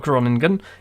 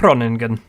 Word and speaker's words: Groningen: it it's wrong again it's not groaning good it's running good I suspect quite a